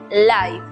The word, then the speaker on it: life: tiempo es saber que la E al final de las palabras es muda, como ocurre en la palabra vida, que se pronuncia life, o en la palabra denso, que se pronuncia dense.